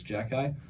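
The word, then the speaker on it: Xhekaj: until I finally just got in my head that it's Jack Guy. Because when you look at it, it's Ksija, whatever it is, however you say that name. It's Jack Guy.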